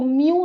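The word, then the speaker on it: μ: तो यहाँ पर इसको म्यू से डिनोट किया जाता है, इसको क्या रीड किया जाता है, म्यू, ठीक है।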